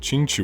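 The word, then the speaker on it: Qingque: hate this character my favorite character's name to pronounce Ching Chu chingu Ching Chu Ching Chu chingu is the coolest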